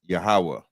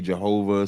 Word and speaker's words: Yahawah: is God but the name of the god in Israel is yahawah some people may say Jehovah some people may say Yahweh but in the Bible